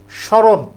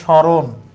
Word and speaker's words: স্মরণ: স্মরণ। দন্তসের সাথে মফলা আছে। আমরা জানি শব্দের শুরুতে যদি কোন বর্ণের সাথে মফলা থাকে ম এর উচ্চারণ হয় না।